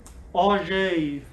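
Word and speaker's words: Auger: and that is called the rj effect um or j pronounced a-u-g-e-r it's french um and so for rj what happens is that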